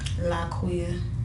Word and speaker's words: Liquiya: Laquiya. Laquiya. Just like it sounds. Just like it spells.